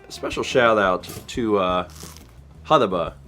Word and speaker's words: Hutahbah: A special shout out to, Hudaba. I believe it's pronounced Hudaba, for producing that.